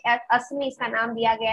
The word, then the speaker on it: ASMI: pistol जिसका नाम है ASMI या असमी आप pronounce कर सकते हैं, वो DRDO ने बनाई है.